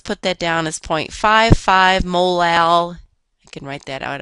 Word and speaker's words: molal: units of ethylene glycol notice that this term is pronounced molar the Little M is pronounced molal a molal solution of